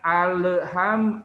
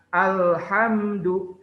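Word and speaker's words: الحمد: keduanya alhamdulillahirobbilalamin Nah ada juga yang keliru ketika baca alhamdulillah halnya di Qalqalah kan padahal lam bukan huruf Qalqalah jadi ada yang bacanya alham alham Nah itu kurang tepat ya jadi jangan awet perusahaan alhamdu Hai Alhamdulillahirobbil alamin kmudian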